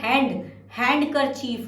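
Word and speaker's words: handkerchief: Next is हैंकरचीफ, जिसको hanky बोलते हैं, रुमाल बोलते हैं, हैंकरचीफ ही बोलते हैं, लेकिन हैंकरचीफ में डी साइलेंट होगा, हमें डी भी ऐड करना, हैंडकरचीफ होता है, हैंडकरचीफ HANDKER और चीफ, ठीक है ना, हैंडकरचीफ।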